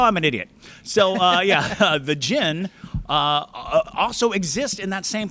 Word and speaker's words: djinn: I used to say djinn all the time, and finally someone was like, the D's silent. And I was like, oh, I'm an idiot. So, the jinn also exist in that same place.